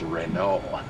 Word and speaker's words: Renault: correcting my pronunciation it's Renault yes it is Renault the t is silent turn left Adam buser